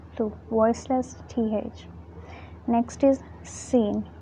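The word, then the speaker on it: سين: Now some people pronounce it like tha. That's wrong. Sin has a sharply whistling sound.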